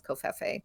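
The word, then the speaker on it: covfefe: of this enigmatic tweet the one with a silent V seemed to be the the one that right you that's what you just said kof yeah that was the only pronunciation that really seemed to make sense to people was koffe which just to be clear it was COV f f that's our best at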